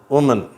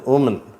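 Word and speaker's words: woman: என்ற உச்சரிப்பு சைனா அடுத்தது வுமன் வுமன் சரியா இதுவும் மேன் ன்னு கிடையாது வுமன் சரியா அந்த கடைசியில வர்ற எம்முக்கும் எண்ணுக்கும் நடுவுல வர்ற அந்த ஏன்ற எழுத்து அ அப்படின்னு தான் உச்சரிக்கப்படுகிறது வுமன் அப்படின்னா பெண்ணுன்னு அர்த்தம்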